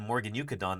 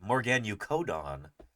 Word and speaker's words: Morganucodon: She said Morganucodon. That's why I always thought it was pronounced, and then I heard mammal people call it Morganucodon. And I'm like, tomato, potato, what is it? How do you say that? Morganucodon? Morganucodon? Probably both are correct.